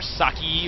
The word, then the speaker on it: Socke: His name is Socke, or Socke, or Saki, or Socke, whatever you want to call it, but in German it's just Socke. And he is from Team